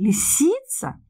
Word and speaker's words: лисица: Кроме этого, я ставлю ударение на второй слог. Я спрашиваю, лисица?